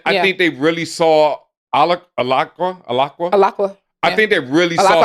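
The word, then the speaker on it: Alaqua: And I think they really saw Alakwa. I think they really saw her I hope potential. it's pronounced Alakwa.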